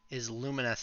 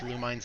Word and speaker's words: Lumines: Yeah, it is Luminous. Luminous is how it is pronounced. I always thought it was Lumines as well.